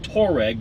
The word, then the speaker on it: Touareg: a volkswagen the volkswagen touareg which looks like touareg but it's actually not bad i think that's the